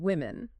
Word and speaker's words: women: plurals like woman and women. Listen closely. Woman singular. Women plural. That vowel sound change is significant, isn't it?